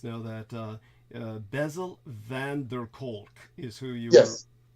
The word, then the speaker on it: Kolk: By the way, Deanna Fraser lets us know that Bezel van der Kolk is who you were. Yes. Thank you. Yes. Try spelling it. Kolk. Spell it if you're going to say it.